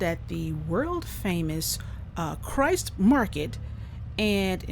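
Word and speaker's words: Kreuz: the world famous uh Christ market and which is spelled weird but um anyway that's how it's pronounced but um we stopped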